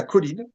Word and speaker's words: choline: Il y a une autre chose qui est très concrète à court terme, c'est ce qu'on appelle la colline qui s'écrit choline et qui est le précurseur de l'acé coline.